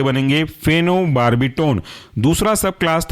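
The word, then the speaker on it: phenobarbitone: था long acting इसके अंदर का एग्जांपल है फेनो बार्बी टोन फेनो पी एच ई एन ओ फेनो और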